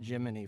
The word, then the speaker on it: Gemini: Oh, I forgot to say, I'm changing my pronunciation to like the astronauts did it in the 60s. I'm calling it Jiminy from now on. That's the way they did it. They called it Jiminy. Like the cricket.